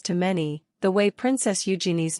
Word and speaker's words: Eugenie: when saying it as the emphasis is meant to be on the first syllable and while it may